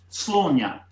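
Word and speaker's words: Sláine: Okay, well, this is where I come unstuck, because of course it should be pronounced Slaughter or some variation thereof, depending on which part of Ireland you come from.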